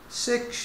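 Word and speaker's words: sech: تانش اكس، و سيكنت هايبربوليك و سيكش اكس، و كوتانجنت هايبربوليك ونطقها كوتش اكس، و كوسيكنت هايبربوليك ونطقها كوسيكش اكس ريسبكتيفلي.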